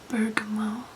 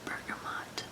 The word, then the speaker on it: bergamot: You'll find lemon essential oil, grapefruit, mandarin, bergamot or bergamot, depending on how you pronounce it. I think either way is fine.